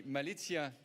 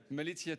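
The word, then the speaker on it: Malizia: What best having one of the skippers that has been co-piloting one of those boats with the Malitzia team. Do I pronounce that correctly? Malitia team.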